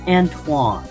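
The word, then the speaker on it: Antoine: to barge in but it's antoan antoan thank you I honestly could not remember how to say it properly H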